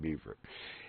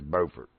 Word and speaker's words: Beaufort: I've been to Beaufort, and yeah, I know how to pronounce it. It's not Beaufort. Don't you dare call it Beaufort. Anyway, it's Beaufort, right down near Paris Island and Lejeune.